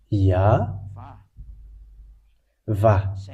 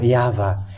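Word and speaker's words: יהוה: And if we combine this, Yod Vav, Yod Hey Vav Hey, it's obvious when we read this, Yah Va. That's it. This is the YAHVAH. We can see it now, YAHVAH.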